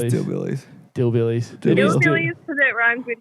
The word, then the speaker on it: DylBillies: Dill Billies. Dill Billies. Dill It is Billies. Dill- Hillbillies because it rhymes with Hillbillies.